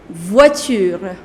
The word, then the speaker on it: voiture: Car is une voiture. Une voiture. Voiture. The pronunciation of OI is OA, so it becomes voix. Voiture. Une voiture.